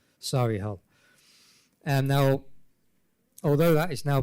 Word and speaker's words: Solihull: The E is silent on the end of the word there. Solihull.